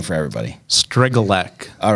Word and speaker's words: Strygulec: I would call it Strygulec, but it's Strygulec.